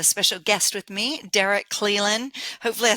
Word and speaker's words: Cleland: And today I have a special guest with me, Derek Cleland.